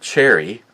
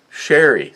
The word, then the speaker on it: sherry: That's not cherry, sherry.